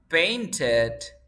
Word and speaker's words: painted: When the word ends in T or D, you pronounce this like ed. So you say painted, painted.